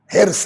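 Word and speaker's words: حرص: ہرس کا صحیح تلفظ ہرس ہے. ہم لوگوں کے دیہاتوں میں جائیے تو ہرس ہے، لکھنؤ میں جائیے تو ہرس ہے. لکھنؤ کی زبان ہرس.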